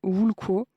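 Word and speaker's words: *wl̥kʷo: Tout commence avec une racine hypothétique, W-L-K-W-O, prononcée quelque chose comme Wulko.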